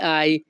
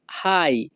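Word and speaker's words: hai: আরেকটি কথা বলে রাখি ইতালিয়ান ভাষাতে এইচ এ আই এর উচ্চারণ হবে আই আমরা সাধারণত ইংরেজি ভাষাতে এইচ এ আই এর উচ্চারণ করে থাকি হাই তো যখনই আমরা ইতালিয়ান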